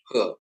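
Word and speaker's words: הא: Alef, bet, gimel, dalet, he. Masuk ke ya. Konsonan Ibrani ke ya. He diucapkan seperti H dalam kata hati. Transliterasinya H.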